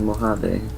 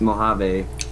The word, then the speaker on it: Mojave: And the Mojave dog. Yes, and the Mojave dogs. No, it's Mojave. It's here, I'll spell it out.